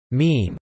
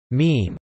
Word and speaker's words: meme: Richard Dawkins, 1976, apparently coined the word meme independently of Semmon, writing this. Mimeme comes from a suitable Greek root, but I want a monosyllable that sounds a bit like gene. I hope my classicist friends